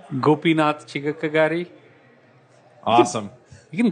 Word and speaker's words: Gopinath Chigakkagari: bit different how do you say your name gopinatha chica kagari awesome you can call it Gopi Gopi all